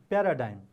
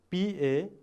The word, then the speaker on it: paradigm: P-A-R-A-D-I-G-M, paradigm. Once again, spell it out. P-A-R-A-D-I-G-M, paradigm. And its pronunciation is paradigm. Once again, all of you pronounce it paradigm. One more time, paradigm.